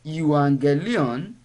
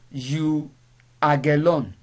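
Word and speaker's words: εὐαγγέλιον: the greek alphabet whereby when we have gamma nasa that is gamma gamma gamma coming together without any other letter intruding we have to pronounce the first gamma as um so the word you anger leon is not pronounced you again that is the word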